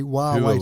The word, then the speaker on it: Huawei: streets of America asking people, how do you pronounce this word, showing them the spelling, because Huawei doesn't say Huawei to me.